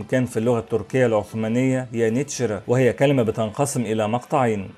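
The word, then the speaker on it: yeniçeri: بيسمعوا الاسم من الأتراك يانيتشرا، لكن في نفس الوقت لاحظوا وجود كاف عند كتابته ولم يكونوا يعلمون وقتها أن الكاف المنقوطة بتنطق نون في اللغة العثمانية.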